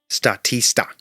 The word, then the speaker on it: Statista: a website called statista statista it rhymes with barista okay or is it